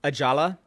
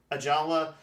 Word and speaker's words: Ajala: Ajala. Ajala.